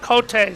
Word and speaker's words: Cote: Cote, C-O-T-E, K-O-T-A-Y.